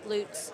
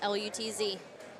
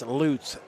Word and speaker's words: Lutz: Like Jeff Lutz, but it's Loots. Bill's name is pronounced like L O O Ts.